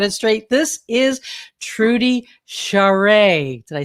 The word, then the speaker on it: Charest: we finally got it straight this is trudy charade did i say it correctly yeah that's perfect